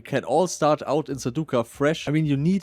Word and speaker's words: Sarducaa: Sarducca release or how the absolute pros pronounce it. Sarducca.